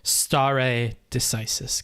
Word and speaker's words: stare decisis: eagle given his background is somebody who could pronounce this right so stare decisis gotcha gotcha it's quartz to follow historical decisions